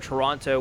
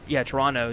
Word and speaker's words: Toronto: And then obviously right after NXT TakeOver Toronto, we will be, Toronto. That's how you say it. It's not Toronto. Toronto. Toronto. Yeah, that's how you pronounce it.